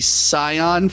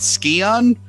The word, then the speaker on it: Scion: And look, I've heard people pronounce it Scion, but it's spelled like my car, so I'm saying Scion.